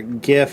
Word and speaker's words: GIF: As much as I know the hard G is right for GIF, I might start doing the soft G to make a phonetic difference between GIF and GIF.